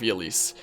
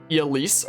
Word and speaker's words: Ylisse: Fire Emblem Warriors, and they call it, like, Ylisse, or, like, Elise or something like that. And I was like, oh, that's how it's pronounced.